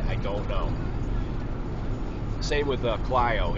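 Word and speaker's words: Clio: don't know same with clo it looks like Cleo that's how it's spelled you know c l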